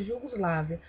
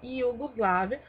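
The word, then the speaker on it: Jugoslavija: português, a gente leria Jugoslávia. Porém, ela se escreve com J, mas se fala Iugoslávia, porque o J em sérvio tem som de Iu.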